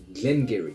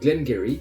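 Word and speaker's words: Glen Garioch: classement on retrouve la distillerie Glenn Gery donc Glenn Geary qui a une prononciation tout à fait particulière puisque le nom s'écrit caryoc c'est une distillerie des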